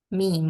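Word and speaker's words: م: the Arabic one yeah so to pronounce the meme we have to connect Rec connect we connect our both Labs which which parts the outer part or inner or the dry parts right both dry part yeah the meme is pronounced by connecting a both dry parts of our lips both dry parts of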